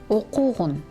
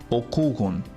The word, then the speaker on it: окугун: Например, «иштегин», «окугун». Please note, suffixes in the imperative mood, as an exception, are unstressed. This means, in their pronunciation, we should put the stress on the previous syllable, not on them.